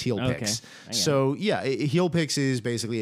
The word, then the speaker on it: HEALPix: this is getting real how do you spell it uh h e a l p iix heel piix so yeah healpix is